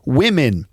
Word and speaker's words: women: the E is also pronounced with an e sound so we have women okay one woman two women and then one man and two men but it's the plural women that people often don't pronounce correctly women Okay so women have